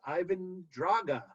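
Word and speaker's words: Ivan Drago: Also, when they announce Ivan Draga in Russian, it's pronounced Ivan Draga, because that's how the ring announcer pronounces it, which is weird because why would they?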